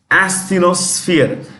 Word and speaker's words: asthenosphere: Asthenosphere. When you pronounce this, it is SF, not SP, SF. Asthenosphere.